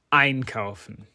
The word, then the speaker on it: einkaufen: The main way to identify separable verbs is to look at where the stress falls on the verb. If the stress falls on the first syllable, and crucially, if that prefix is a word in its own right, then the verb is likely to be separable.